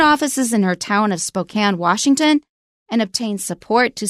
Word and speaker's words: Spokane: Watch out for Spokane, because it looks like Spokane, and I bet a lot of people say it that way.